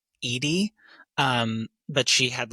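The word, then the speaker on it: Eadie: Um, there's this quote by um, Betty, I think she pronounces her last name um, Edy.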